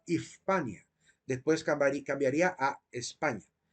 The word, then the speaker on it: Hispania: de la letra s Entonces se pronunciaba ispania después cambiaría a España